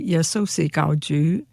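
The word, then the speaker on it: 耶穌係救主: So if you want to say Jesus is the Lord and Savior, you should say Yesosi Gaoju. And if you say it wrong and you say Yesosi Gaoju, you've said Jesus is a plastic pig.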